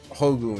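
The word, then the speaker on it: 宝具: The pronunciation is Hogu in Japanese, and I guess it's one of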